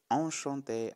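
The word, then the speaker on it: enchantée: et les femmes disent enchantés avec eux accent aigu et plus e en ajoutant un final cela se prononce de la même façon enchanté enchanté merci à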